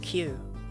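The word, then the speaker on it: 九: it is phenomenal because nine in Japanese is pronounced q and it's like ah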